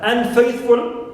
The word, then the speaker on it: unfaithful: n is neutal also Unfaithful n is neutal also and faith is stressed now as you see